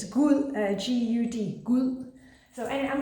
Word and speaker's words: Gud: It's Gud, G-U-D, Gud.